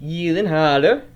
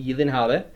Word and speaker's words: Gyllenhaal: Jake Gyllenhaal. I think that's how you pronounce his last name, Gyllenhaal. Jake Gyllenhaal. It's like Gyllenhaal, but it's Gyllenhaal.